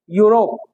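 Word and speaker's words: Europe: अगला है यूरोप, क्या है, यूरोप, स्टार्टिंग हो रही है किससे, ई से, जो कि क्या है, वोवल है, लेकिन इसका जब प्रोनाउंसिएशन करते हैं तो यूरोप ये से आता है, तो क्या होगा, ए लगेगा।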